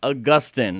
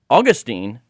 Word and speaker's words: Augustine: We're going to be talking about Augustine. Now, the old joke goes, and I personally abide by it, that Saint Augustine is in Florida and Saint Augustine is in heaven.